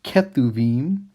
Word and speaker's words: Kethubim: And you can spell it two different ways. Sometimes people spell it with a B. Sometimes they spell it with a V. It's the same letter in Hebrew, and that letter can sound like a B or sound like a V.